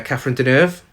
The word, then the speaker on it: Catherine Deneuve: It's a very 80s nightclub, and we get introduced to John, played by David Bowie, and Miriam, played by Catherine Deneuve.